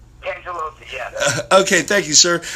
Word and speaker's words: Cangelosi: I'm on the phone with Cangelosi of, and I am pronouncing that right, correct? Cangelosi, yeah.